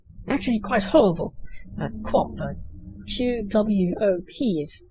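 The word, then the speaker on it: QWOP: same person who made a Flash game named Quap quite a number of years ago. I'm guessing his name was Bennett Foddy from that title there. And Quap was also a joke game.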